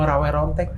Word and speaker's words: Rawa Rontek: Jadi gini Teh Feni, maksudnya apa sih itu ilmu rawe rontek? Rawe Rontek kalau pengucapannya. Okay. Kalau tulisannya rawa rontek.